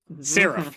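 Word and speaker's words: Sarif: Saf. It's been a while. Nope, close. Seraph, like in Black Ops 3.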